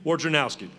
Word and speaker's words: Wojnarowski: But our National Sports Writer of the Year, Marty McGee, we can't ever pronounce his name correctly. We just go with Woj. But it's Adrian Wojnarowski. Good evening, everyone.